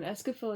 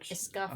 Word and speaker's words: Escafil: Escafil is how I pronounced it. I always feel like a scaffold, like scaffolding.